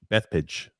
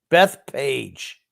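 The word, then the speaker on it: Bethpage: i live in beth beth pitch what is that grump how do you pronounce that that's page that page oh i'm sorry grumpy can i apologize jesus my god beth page maybe if you actually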